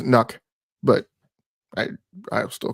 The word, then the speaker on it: NUC: the Asos is it nuke yeah yeah yes most people pronounce it I think the technically correct pronunciation is nuck but I I still